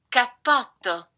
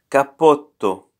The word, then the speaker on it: cappotto: Double consonants also sound longer than single consonant.